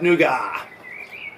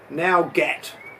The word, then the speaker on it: nougat: how to pronounce words, there'd be certain words where it doesn't sound anything like it's pronounced. Like nougat, which technically should be nougat.